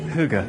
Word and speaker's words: hygge: speaking here in this hygge rich cafe hygge getting the vowel done rich cafe with melanie